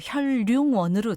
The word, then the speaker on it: 현륭원: 네, 강승희 아나운서 이 발음을 그냥 표준 발음으로 혈룡원으로 통일을 하면 좋을 것 같습니다.